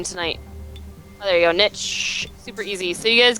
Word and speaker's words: N1TCH: Yeah, I'm at Niche, which is spelled N1TCH, and I have a Twitch channel which I'll be streaming on later, just playing the game as well.